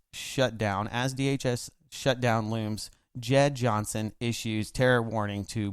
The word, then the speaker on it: Jeh: And oddly enough, I walked by the television and I saw Jeh. I like to call him Jeh. I think it's J, but we'll just call him Jeh because it's spelled Jeh.